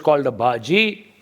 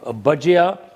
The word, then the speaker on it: bhajia: to make a thing that is very grossly mispronounced in Britain and it's an onion Baja okay Nationwide in Britain is called a baji but baji means cooked vegetables or spinach baji is not a Fritter a bajia or a pakora is a Fritter okay so